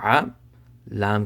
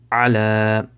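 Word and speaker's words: على: So ayn zabar a, lam kari zabar la, ala. So this ya right here, it does not have any harakat, so just ignore it.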